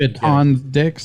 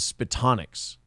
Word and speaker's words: Spitonics: No, you're getting the name of the group wrong, see, because it was Spitonics. Yeah, Spit on Dicks. No, see, you're not saying it right. I think if you heard yourself say it, you would. Here, let me do it slower. Spits on Dicks. Yeah, see, no, it's still wrong.